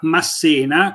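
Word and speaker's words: Masséna: Ma se no Dunque secondo me si pronuncia Massena con l'accento sulla e perché era diciamo Lui parlava anche l'italiano era italiano e però il francesi Come fanno sempre con i cognomi italiani che terminano con una vocale hanno la naturale tendenza a mettere l'accento sull'ultima lettera quindi quindi molto spesso sentite pronunciare ma probabilmente esattamente ma probabilmente l'addizione corretta è Massena Infatti io ho usato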